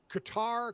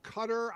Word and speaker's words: Qatar: Jesse if you know Qatar cutter I mean are we accepting different pronunciations is it one for sure both yeah I have I have